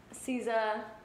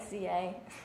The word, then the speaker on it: SZA: I love, like, SZA, or I guess that's how you say it, SZA. SZA. Nobody knows how to pronounce it.